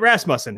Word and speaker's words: Rasmussen: So now we have, if you hadn't figured it out, Scott Rasmussen. Have I been pronouncing that right this whole time?